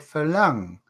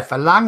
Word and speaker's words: farang: How do you say Farang or Farang? Farang. Oh, it's two ways to say it. Two ways. R and L are the same for Thais, aren't they? They say Farang. We say Farang.